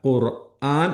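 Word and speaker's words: القُرْآن: ഖുർആൻ എന്നുള്ളത് ആരും ഖുർആൻ എന്ന് നന്നാക്കി പറഞ്ഞു പോകരുത്. അയിന് നല്ല അലിഫിന്റെ ഉച്ചാരണമാണ്.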